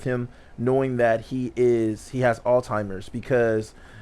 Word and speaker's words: Alzheimer's: Not Alls. Can we just go with this shit? No, you can learn how to say it right, my nigga. Alzheimer's. Heimers. Alzheimer's. You sound like a German trying to speak English. Alzheimer's. Huh, where'd that T come from? There's no T in Alzheimer's.